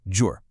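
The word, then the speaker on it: ջուր: Water in Armenian is jour, pronounced jour. This is one of those words that's just fundamental.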